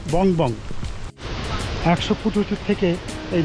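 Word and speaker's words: Phong Phong: আসল নাম হচ্ছে বং বং, বানানটা PHONG ফং আর PHONG ফং, মানে ফং ফং বললেই ভালো হয়, কিন্তু আসলে উচ্চারণটা হবে বং বং।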